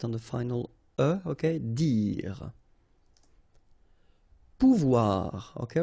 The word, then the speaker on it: pouvoir: Pouvoir, okay, remember when you combine this O and U, you get the sound OU, okay, and when you combine this O and I here, you get the sound OUA, okay, so pouvoir, pouvoir.